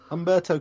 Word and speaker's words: Humberto: Oh, Humberto Carrillo. Thank you, Humberto. Apologies for that. Just think of a cross between the delicious, refreshing, sweet humbug and the easy to pronounce Italian name Roberto.